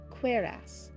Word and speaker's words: cuirass: Like queer, but like cuirass.